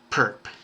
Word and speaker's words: perp: perpendicular and it and we pronounce it simply perp so m perp it's